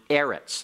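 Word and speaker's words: אֶרֶץ: is actually the noun Eretz like Eretz Israel the Land of Israel Eretz is a seg late noun and accent on the next last syllable alright we're going to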